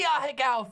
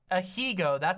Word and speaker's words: Ahegao: It is the Ahegao face. Ahigo, I've never heard that pronunciation before.